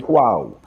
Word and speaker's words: JunKaNoo: you pronounce the name, Chris? Is it JunKaNoo. Say it again. JunKaNoo.